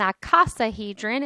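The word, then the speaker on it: icosahedron: the same measure and an aasa hedrin is how you say this last one it has 20 equilateral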